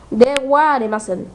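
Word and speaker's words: ではありません: Dewa Arimaen se escribe de Jaimasen, pero se pronuncia de Ariasen.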